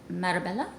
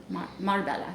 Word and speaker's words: Marbella: bottle this one is carne Barcelona this is Marabella Marbella excuse me this one is really appropriate for